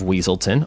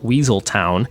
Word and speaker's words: Weaselton: Duke Weaselton is voiced by Alan Tudyk, who also voiced the Duke of Weaselton, often mispronounced Weaseltown, in Frozen in 2013.